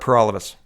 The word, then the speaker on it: Paralovos: out my name is pur all of us that rhymes with for